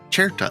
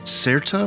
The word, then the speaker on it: Cetra: Orchestral Tools have released Cherta, a history of fredded strings for contemporary composition. Certa or Cherta, you can pronounce it other way, offers a selection of instruments from the folk and classical traditions of Western Europe.